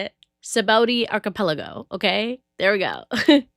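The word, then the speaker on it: Sabaody: you guys can't spell that thing out like phonetically, okay? But it's okay because now I know how to say it. Sabaudi Archipelago, okay?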